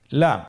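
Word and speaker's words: لِ: পরবর্তী হরফ লাম, উচ্চারণ সহকারে হরকত দিয়ে বলুন লাম জবর লা, লাম জের লি, লালি, লাম পেশ লু, লালি লু।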